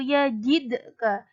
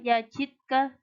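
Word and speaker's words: يجدك: selanjutnya yang kedua yaitu yajidka Qolqolah Sugro huruf Dal ia berharakat sukun mati di tengah-tengah kalimat cara membacanya dengan memantul alam yajidka yazidkal Jadi tidak boleh dibaca yazidkal tidak boleh Harus ada pantulannya yajidka itu dinamakan Qolqolah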